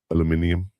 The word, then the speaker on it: aluminium: Aluminium. Aluminum. No, aluminum. Aluminum is aluminium. That's how they say it in England.